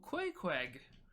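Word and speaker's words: Queequeg: the sea captain correct oh how do you spell that it is q-u-e-e-q-u-e-g oh koi kweg yeah you said he was a shrunken head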